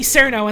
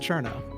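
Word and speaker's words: Cirno: that game to see cerno and then you turn it off for what it's worth her name is actually pronounced Cherno I'm learning so much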